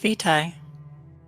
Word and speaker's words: Vitae: I say, "Oh, it's pronounced Vitae."